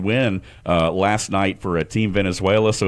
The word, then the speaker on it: Venezuela: Well, and I love the way you said, because you said it right, Venezuela.